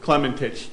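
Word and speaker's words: Klementich: My name is Detective Clementich. The last name is spelled K-L-E-M-E-N-T-I-C-H.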